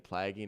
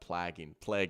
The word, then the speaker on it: plaguing: The A in plaguing is pronounced like the letter in the alphabet. Plaguing.